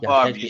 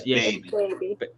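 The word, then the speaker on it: Bhabie: No, it's not Barbie. It's Baby. But it's spelled with an H.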